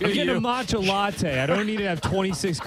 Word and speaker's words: matcha: Like, why are they offering protein to get a matcha latte? Hey, I don't need to have 26 g of protein. How do you say that? Matcha. Oh, matcha.